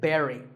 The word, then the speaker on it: buried: usually an important person is buried we say Barry now when I first